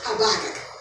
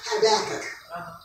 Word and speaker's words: Habakkuk: Out of all the scriptures that I did, Haggai, not Haggai, but Habakkuk. I can't say it right. Habakkuk. Habakkuk.